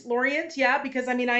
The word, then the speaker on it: Lorient: so close to Quebec I see it as lauron exactly how you pronounced it as the name of the town but because we were canadianized it we're calling it Laurent yeah well is that right he was you know it's Laurent Laurent yeah because I mean